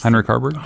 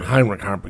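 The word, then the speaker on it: Heinrich Haarberg: the um the um I I can't pronounce Henrik Harbor Heinrich Harbor yes thank you me and my ages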